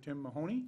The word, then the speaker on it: Tim Mahoney: Paul, Representative Tim Mahoney. Yeah. Am I pronouncing that correct?